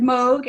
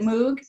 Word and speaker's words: Moog: thank everyone here who has who has said mogh I know this gentleman whoever it was James I guess wavered because sometimes people pronounce it Moog and actually there's part of an you know